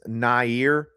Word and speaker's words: Nair: And I think the common thought is that one is Nair, and that is the correct way to pronounce the name, Nair Crum, who announces tomorrow on 247's live stream tomorrow evening.